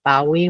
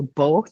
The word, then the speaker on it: BAWE: Academic Written English Corpus, BAWE or both, depending on how you want to pronounce it.